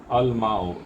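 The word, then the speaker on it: الماء: तो हो गया अत तुफ़ाहो, अल माओ, इसमें लाम प्रोनाउंस हो रहा है क्योंकि माँ में का मीम जो है वाटर, द वाटर, मीम क्या है, ये खमरी हर्फ है, इसके लिए आपको अल में का लाम प्रोनाउंस यहाँ पे करना है।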